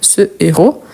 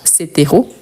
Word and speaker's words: héros: Donc, on dit par exemple ce héros et pas cet héros.